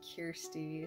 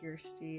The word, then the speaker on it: Kirsty: not know us i'm kirsty like here beer pure kirsty it's a swedish name i'm named after my